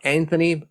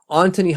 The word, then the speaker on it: Antoni: I have a hard time pronouncing it because I know it's not Anthony. Either way, Antoni Honka putting up 7